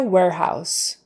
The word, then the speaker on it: warehouse: ow ow ow and that s is an S not a z warehouse data warehouse uh